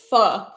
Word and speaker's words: pho: add salmon and mashed potatoes yum is it far or fur or Foe it's pronounced fur I'm pretty sure and it's p-h-o that confused